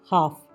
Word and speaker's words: half: HALF, हाफ, एल की sound नहीं आ रही कहीं भी, यानी आधा।